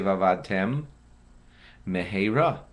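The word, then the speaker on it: ואבדתם מהרה: You'd have to separate your lips and say vavadtem meheira. That way, there's two distinct mems, and now you've pronounced the two words correctly.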